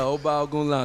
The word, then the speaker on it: Ogunlano: Yeah, OGUNLANO.